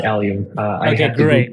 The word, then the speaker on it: Allium: alium hopefully I'm pronouncing that right yeah yeah pronounced alium I I have to Google how to pronounce